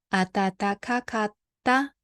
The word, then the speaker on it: 暖かかった: 暖かかった。 So this one a little bit hard to pronounce, but double T-A, doubleか。暖かかった。寒かった。可愛かった。One more time.